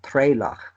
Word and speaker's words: Turlough: Turlough, or as they Is pronounce it in Kerry, Trelough, was Englished as Terence.